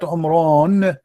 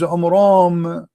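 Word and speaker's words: Amram: First of all, the father of Moses, his name is not Umran, his name is Umram, according to the so he got the name wrong.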